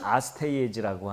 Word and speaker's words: 아스티아게스: 그 본명이 좀 낯선 이름일 텐데 아스티아게스. 아스티아게스입니다. 어떤 분들은 그거 가르쳐드리면 아스파라거스 뭐 이래요. 아스티아게스인데 영어식으로 발음하면 아스테이에즈라고 하는 왕이에요.